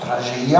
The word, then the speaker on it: tragédia: La pastorale basque de Soule s'appelle aussi en souletin tragédia, qui se prononce tragédia parce qu'en souletin, nous mangeons les R qui sont entre les voyelles.